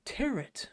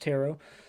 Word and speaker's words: tarot: of the movies I'm discussing tonight tarot or teret as the one character pronounced it um it's pronounced tarot the tea is silent and but yeah there's